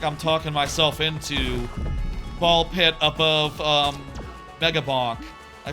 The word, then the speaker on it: BALL x PIT: Or sorry, uh Ball X Pit got it. Ball Pit as it's called. You don't pronounce the X. It's like the cross.